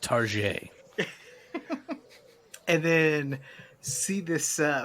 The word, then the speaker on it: Target: shop it was Target it's it's pronounced tar and then see this